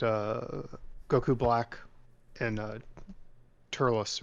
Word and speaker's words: Turles: goku black and uh turlos or telus however you say his name just tell us tell us and uh like someone's typing in the chat right now it's turles and it's king kai